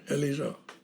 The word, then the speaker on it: Eliza: Eliza. Is how they say it down there. Eliza.